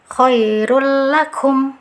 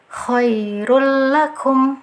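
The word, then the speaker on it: خير لكم: ya ke huruf lam nah catatannya tanpa disertai guna atau dengung jadi nggak usah ada dengungan nggak usah ditahan dia hanya memasukkan saja dari tanun dhomah langsung dimasukkan ke huruf setelahnya yaitu huruf lam cara bacanya Khoirul lakum Khoirul lakum nah jangan sampai ada dengungan nah jangan sampai membacanya seperti ini ya Khoirul jangan ditahan dia nggak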